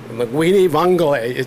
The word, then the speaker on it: linguine vongole: Linguine vongole.